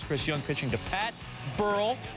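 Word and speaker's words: Burrell: Bottom six, Chris Young pitching to Pat Burl. Rhymes with Pearl, hits the Pearl in the left.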